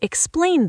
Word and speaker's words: explain: Could you explain this to me? Deep dive. Explain, stress the plane. Don't forget the N sound at the end. Your tongue should touch the roof of your mouth.